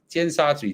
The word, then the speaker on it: Tsim Sha Tsui: Okay, did I even pronounce it correctly? Yeah, Tsim Sha Tsui, Tsim Sha Tsui.